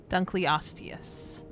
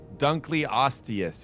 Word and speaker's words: dunkleosteus: great job are we we're missing a syllable dunkleosteus dunkley osteous excuse me dunkley osteous